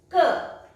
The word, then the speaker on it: que: That means que. It's pronounced as que.